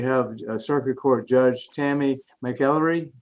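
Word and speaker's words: McElyea: We have Circuit Court Judge Tammy McEllery. Did I pronounce that correctly? Mackley, yes, sir.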